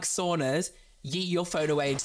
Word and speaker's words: sauna: If you do not like saunas, yeet your phone away into the sea right now because this is about to become a sauna stan account. How often do you go to the saunas?